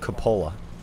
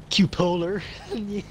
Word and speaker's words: cupola: I'm just trying to prove why it's pronounced cupola. Yeah, I like how he went down cupola. On the Olympics, going from cupola. Cupola? Oh, man. Cupolar. Cupolar. My friend, my... Cupolar. Idaho friend says cupolar.